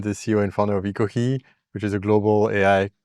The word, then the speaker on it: Ekohe: Some people say Ekohe, but we tend to say more like Ekohe, which is also how we write it in katakana in Japanese.